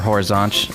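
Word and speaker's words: Horizonte: to bellor Horizon there sort of probably similar how you pronounce it or horizant as they say there and then I went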